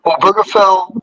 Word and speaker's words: Obergefell: Oh, I think it's pronounced Obergefell versus Hodges.